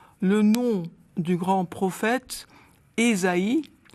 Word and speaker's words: Ésaïe: nom du grand prophète Esaïe au lieu de Isaïe on a opté pour la prononciation protestante alors c'est peu de